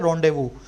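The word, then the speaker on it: rendezvous: लो update या और रोंदेवू यह रोड व देखकर वह इसको क्या लिखा है मैंने religious rituals for inverter Indies लिखा जाता है लेकिन बोला जाता है रोंदेवू तो मैंने इसको रिलीजियस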